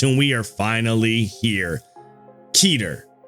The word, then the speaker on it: Keter: Keter, or Keter, as you guys have told me in the comment section that it should be pronounced anyway, is not the class for the strongest abnormalities.